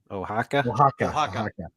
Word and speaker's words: Oaxaca: Oaxaca.